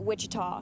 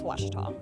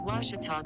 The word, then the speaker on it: Ouachita: wichita back in texas everybody pronounces it wichita but really it's ouachita washington how would you pronounce it it's washita baptist university get it right it's water